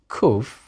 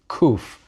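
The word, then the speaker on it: ק: Nowadays it's pronounced just like a letter K, just like a kaf with a dagesh.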